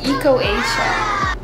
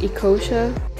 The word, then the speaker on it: Ecosia: would be to use eco-asia just kidding it's actually pronounced ecosia so what is akosha